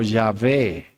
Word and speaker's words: Yahvé: Al agregarle vocales para poderlo pronunciar, podemos decir Yahweh o Yahvé, Jehová.